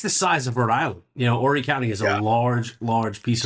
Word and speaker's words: Horry: It's within Horry County. The H is silent for everybody relocating to this area.